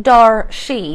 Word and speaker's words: Darshe: Now, Darshe, it's spelled like Dar-She, but it's pronounced Darshe.